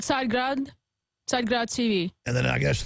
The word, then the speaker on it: Tsargrad: How do you pronounce the name of the TV network? And there it is on screen. It's called Tsargrad TV.